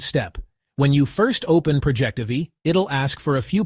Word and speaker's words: Projectivy: Projectivy, not Project TV.